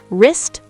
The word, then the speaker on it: wrist: The letter W at the beginning of certain words before R. Like right. Exactly. Right. Wrong. Wrap. Wrist. Wreck. The W is silent in all of these.